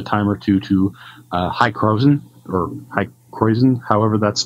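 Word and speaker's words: Kräusen: JD referred a time or two to high Krausen or high Kreuzen, however that's pronounced. That's Kreuzen.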